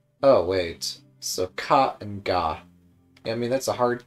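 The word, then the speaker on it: が: It's always pronounced with a hard G. Don't be tempted to pronounce it with like a J. Oh, wait. So ka and ga.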